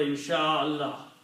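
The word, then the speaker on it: إن شاء الله: This is the word insha'Allah.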